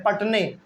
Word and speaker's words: Patne: में एक जगह है पटने, पटना नहीं है, इसका स्पेलिंग है PATNE, पटने।